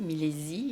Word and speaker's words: Milesi: Alors, on a avec nous aujourd'hui donc Jean-Louis Milési. Il m'a dit bien préciser que c'est un Z. Un jet pour la prononciation.